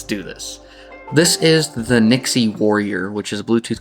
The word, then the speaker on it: NYXI: So, I'd gotten an email from Nixie. At least that's how I pronounce it. I I asked quite a few friends how would they pronounce NYXi, and everyone says Nixie. So, that's how I'm going to say it.